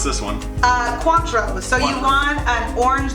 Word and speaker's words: Cointreau: cleaner flavor okay and I'm gonna let you pronounce this one uh Cointreau so you want an orange liqueur so Cointreau